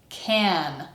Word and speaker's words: can: And the answer is can. Remember, reduced vowel.